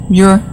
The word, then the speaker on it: Muir: Kevin, am I pronouncing the name correctly? Muir? Yes. Muir, John Muir.